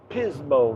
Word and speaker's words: Pismo: Beach California he remembers oh Pismo rhymes with Gizmo that's a very beautiful